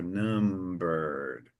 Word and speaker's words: numbered: you I said numbered so numbered you almost don't pronounce that that last e uh so past tense is like that in English Okay so let me